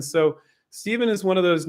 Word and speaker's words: Stephen: or a v but a lot of people with the ph still pronounce it with a v like steven so i i don't call him stefan he doesn't want to